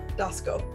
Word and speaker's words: Doskow: i'm here with how do you say your last name dasco ask him just like it's it should be right and uh